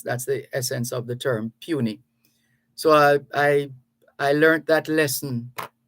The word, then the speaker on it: puisne: pronunciation of that word, Puisne, which is pronounced properly or properly pronounced puny.